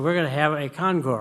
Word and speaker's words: concours: going to have a concore right I had to go home and look it up you don't pronounce the S I've learned uh so uh they agreed to have the concore on their front yard